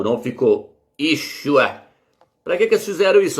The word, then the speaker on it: Yeshua: Como é que esse nome é pronunciado, meus? Yeshua.